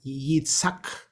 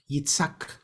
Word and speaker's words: Yitzhak: In Hebrew, pronounced something like Yitzhak. Yitzhak.